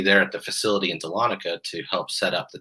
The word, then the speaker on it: Dahlonega: It's Dahlonega, Georgia, as best I can tell.